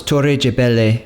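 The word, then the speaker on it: Torre de Belém: From there was a short drive back to Lisbon, and our first stop was Torre Gebele, or with an English pronunciation, Belém Tower.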